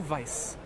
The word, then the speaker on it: Weiss: her name is lulu vice or lulu weiss with a w but here they pronounce it like a v and here we go